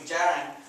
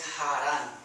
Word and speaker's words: Jaran: So if you see J, Jota, like my name is in English will be Jaran, but in Spanish it's Jaran. So just keep that in mind when you're reading.